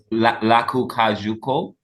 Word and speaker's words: Lakou Kajou: And I know, how is Lakou Kajou? Am I saying it correctly? Lakou Oh, Kajou. Lakou Kajou.